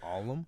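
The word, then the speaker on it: Ollam: i just spell it you said the alum the alum yeah and it's spelled weird it's about uh o-l-l-l-a-m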